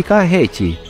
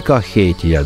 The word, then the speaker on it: Кахети: Грузины говорят «Сванети», «Тушети» и «Кахети». Они как за пределами страны называют туристы «Сванетия», «Тушетия» и «Кахетия», добавляя в конце «я».